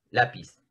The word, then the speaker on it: lápiz: Lápiz, ¿no? La. Ahí. La. No es lápiz, ¿no? No es lápiz, sino es lápiz. ¿Ya? Pues la tonicidad está en la penúltima sílaba, entonces es una palabra grave.